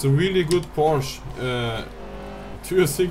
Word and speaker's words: Porsche: In German it's Porsche. In English I know it's you say Porsche, but it's Porsche. Porsche.